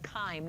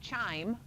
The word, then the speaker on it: chyme: It's called chyme, not chime. That's what the bells do in the church bell-- what's it called, the belfry? Yeah. That's a C-H-I-M-E. This is called chyme, hard c. Like choir is a hard c, but it's C-H. So chyme.